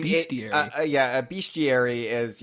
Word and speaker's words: Bestiary: I thought it was pronounced Bestia-Rare-y. I mean, Bestiary. A bestiary is like a collection of like fabled creatures and stuff. So Bestia-Rare-y, of course, is that for the DKU.